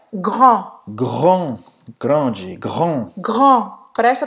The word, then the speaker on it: grand: Grand. Grand. Grande. Grand. Grand. Presta atenção aqui ao R. Tem que treinar, tá? Grand. Grand. Grand. E o D não vai falar.